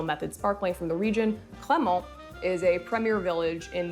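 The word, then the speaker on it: Cramant: They sound pretty similar, right? So this is a little tricky, but Crémant, which is spelled C-R-E with the accent aigu, M-A-N-T, is very different than Crémant, which is spelled C-R-A-M-A-N-T.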